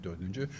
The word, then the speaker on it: Dördüncü: My name is Dorduncu, as you rightly pronounced it.